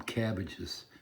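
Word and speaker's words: CABG: and had three bypasses they call them cabbages which is weird it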